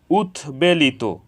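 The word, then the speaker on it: উদ্বেলিত: ফলার উচ্চারণ অবিকৃত হয়েছে উৎবেলিত এখানে উৎ এর সাথে বফলা যুক্ত হয়েছে এজন্য বফলার উচ্চারণ অবিকৃত হয়েছে উৎ বন্ধন উৎ বন্ধন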